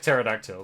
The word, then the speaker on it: pterodactyl: It's like it's like pterodactyl. The P is silent.